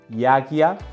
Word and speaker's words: yajña: Para eso el tema es yagya, ¿no? Se pronuncia más o menos así. Yagya es una palabra difícil de pronunciar, pero si quieren la manera fácil es yagya, que es con la G, ya, ¿no?